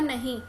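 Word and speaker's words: know: आपको जानती हूं सोनो यह इसकी प्रनंसीएशन कैसे होती है नोटिस में के साइलेंट होता है यह वर्ड हमने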